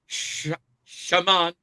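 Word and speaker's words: Chamon: But anyways, Warhawks, it's Shamant Mate of Arizona State.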